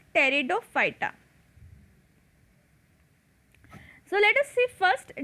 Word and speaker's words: Pteridophyta: fighter thalophyta bryophyta and pteridophyta in the third p is silent so it is called as pteridophyta so let us see